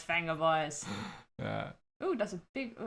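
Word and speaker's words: Vengaboys: It's pronounced Venga Boys. Oh, Is it called Venga Boys? I guess I knew that, but it's been 10 years, so kind of forgotten that. It's Venga Boys.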